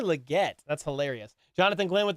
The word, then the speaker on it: Legette: to say his name he called him Xavier liot Xavier liot it's Xavier Legette that's hilarious Jonathan Glenn